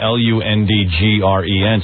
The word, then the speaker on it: Lundgren: sounds out phonetically so the guy spells his name l-u-n-d-g-r-e-n so it's like lundgren yeah and so he's